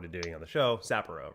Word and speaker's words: Sapporo: Sapporo is the proper pronunciation.